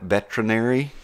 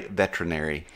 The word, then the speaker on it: veterinary: who are not veterinarians, say veterinary, yes. but it is not. It is VETERINARY, veterinary. Yes. They say it like it's veterinary, like the ER is not there, to your point.